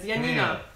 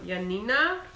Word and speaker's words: Janina: of homemade cookies pronunciation the J is pronounced like the Y and yes okay she's polish the name oh Yan oh there you go you said it you know how it is Yanina okay Yanina and my